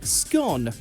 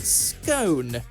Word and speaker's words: scone: in the English language has to be scone or is it scone you'll generally find scone like tone in use in US English but if you were